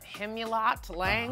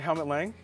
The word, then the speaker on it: Helmut Lang: I just got these Hemulot Lang. I don't know how to pronounce. Oh, like Helmut Lang?